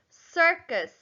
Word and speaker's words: circus: Next, circus. S. If you notice, the C at the beginning is making the S sound.